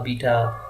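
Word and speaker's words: beta: Okay, इसी तरह alpha, बीटा हम उसको कहते हैं, लेकिन ये बेटा है।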